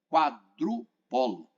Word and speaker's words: quadrupolo: E a de número 33, 34, analisador de massas tipo quadrupolo. É assim que se pronuncia.